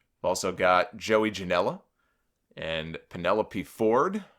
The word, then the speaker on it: Penelope: got Joey Janella and Penelope Ford or uh penelopee as uh as Booker T called her on his show I I got to